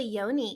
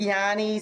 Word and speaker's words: yoni: with what is a yoni, because that word might be new for some of our viewers. Yeah, so some people pronounce it Yanni, some people say Yoni, but basically it's the entire womb space.